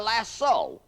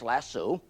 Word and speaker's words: lasso: make a larat or a lasso l a s o often mispronounced lassu how can a cowboy